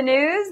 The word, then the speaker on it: Gnooze: hello and welcome to the news the g is silent Pakistan's perz mushara says